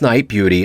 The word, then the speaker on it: Nite Bjuti: her life and music this group pronounced night beauty is a trio of